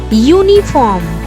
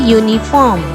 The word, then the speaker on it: uniform: Like university, uniform. So here in these words it begins with vowel U, but it makes consonant sound, y sound.